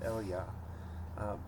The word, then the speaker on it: Elijah: this shows up elijah his name was probably pronounced eliyah but elijah is like